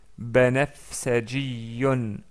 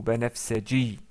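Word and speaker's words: بنفسجي: Et en arabe, on dit c'est banafsajiyun, banafsajiyun ou banafsaji, si on s'arrête sur le mot.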